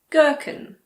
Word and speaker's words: gherkin: If a word begins with GH, the H is silent. Like in the words gherkin, ghetto, ghost.